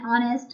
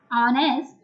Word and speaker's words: honest: Article N is also used where H is silent. For example, an honest man. We don't use the word sound H, honest.